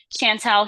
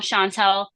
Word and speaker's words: Chantal: like I don't know I don't know how it's pronounced Chantel Shantel shantall Shantel whatever whatever you say it is it is as long as it's not shant T I'm good because that's not my name that's all I know